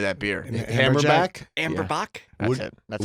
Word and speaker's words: Amber Bock: the name of that beer and Hammer Zack amber Bock that's how you would pronounce what did you call it amber babbling like this you have a amber back amber man that's right in Canada you see